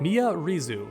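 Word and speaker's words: Miary Zo: Mia Rizu. Apparently that's how you pronounce it.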